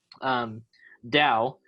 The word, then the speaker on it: Tao: It's spelled Tao, but it's pronounced Tao.